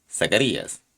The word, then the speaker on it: Zacarías: final de su reinado un sacerdote llamado zachary has de ser pronunciado zacarías es decir jehová se